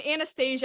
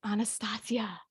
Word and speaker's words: Anastasia: yeah yeah I mean Anastasia I know that's how everybody pronounces it but I'm like no it's Anastasia yeah yeah the Russian um but zozia what